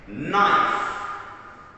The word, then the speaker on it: knife: when you use the knife has a silent k knife knife very good can